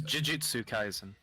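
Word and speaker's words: Jujutsu Kaisen: gonna arue for 10 Mo minutes how to pronounce this okay it is Jitsu kaisen but okay it it's a basically a 3D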